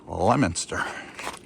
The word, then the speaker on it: Leominster: But I will um I'll come back to Lemonster again. It's spelled Leo Minster, but it's pronounced Lemonster.